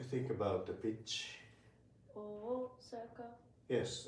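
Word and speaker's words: 大阪: Osaka. Osaka. Wow, please try with me. Osaka. Osaka, it also has 4 beats, 4 moras.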